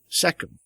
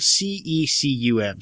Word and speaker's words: cecum: And then the rabbit knows when it's going to poop out this other cecum. Cecum? It's spelled C-E-C-U-M, so cecum. Cecum.